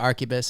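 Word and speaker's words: arquebus: __ ] and um it's like an abacus but arubus is it reading the word colel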